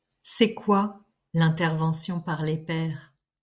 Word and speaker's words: pair: Ah oui, il faut commencer par expliquer le mot père. Ça ne veut pas dire papa. Le mot père s'écrit P A I R.